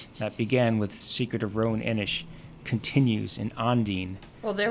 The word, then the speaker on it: Roan Inish: Roan Inish. There you go. Roan Inish. Say it like the Roninish.